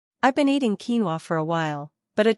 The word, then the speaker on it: quinoa: farmed for its nutritious seeds this common staple pronounced quinoa has been farmed in South America for countless